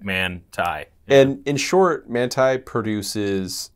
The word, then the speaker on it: Manthey: the GT3 man uh it looks like it's spelled man that's what I kept saying before they actually heard them I heard them pronounce it and I was like oh I've been wrong a long time yeah yeah so manai yeah it's man yeah like manai and in short manai